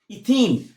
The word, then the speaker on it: ethene: Ethene. Now what is the pronunciation? Ethene. ENE is very important.